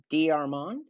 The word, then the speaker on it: DeArmond: say your name correctly it's d'armon yes sergeant diormont is actually the correct pronunciation it's French so okay good good I